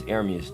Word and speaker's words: Ermias: It's Ermias though, that's how you say it.